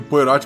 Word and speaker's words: Poirot: Se escreve Poirot, mas se fala Poirot. Eu nunca sei falar o nome dele. Ele é belga, mas a pronúncia é francesa.